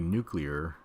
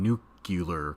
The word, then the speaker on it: nuclear: degree um okay so the word is obviously nuclear like you know nuclear nuclear like why why would anybody say it like that there there isn't like another consonant after the sea yeah I think people think he's saying nucular cuz he's actually saying nuclear but anyway hope hopefully